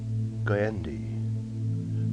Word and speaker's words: Goyendi: Goyendi. The N was no more than a throwaway, no more than a light raising of the tongue to the roof of the mouth, as it went from